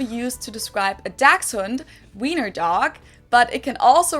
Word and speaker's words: Wiener: In German, we say Wiener, the German W is pronounced like an English V, and it usually refers to the sausage.